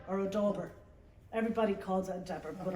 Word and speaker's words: dauber: what's it called a Dabber or a dauber everybody calls it Endeavor but I think it's adorable d-a-u-b-e-r yeah maybe the U is silent but they'd have two